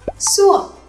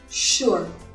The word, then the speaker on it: sure: Ví dụ như từ chắc chắn được bắt đầu bằng chữ S nhưng lại đọc như chữ SH. Như vậy không phải là sure mà là sure.